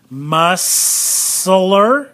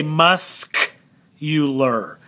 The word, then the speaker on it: muscular: c so let's go ma soul the c is silent but check this one out muscler we don't say that do we we say musk you ler musk euler so underline that c right there musk you